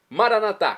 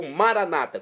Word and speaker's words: Maranatá: Maranatá, como dizemos nosso católico, nós católicos ou maranata, como dizem nossos irmãos das comunidades evangélicas ou protestantes, não importa a pronúncia, o significado é o mesmo.